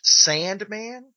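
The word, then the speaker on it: S&man: This one is called, it's pronounced Sandman, but it's S, the and sign, man.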